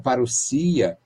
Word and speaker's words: parousia: Vinda, palavra, parúsia, que se pronuncia como parousia, aqui 2 S's, né?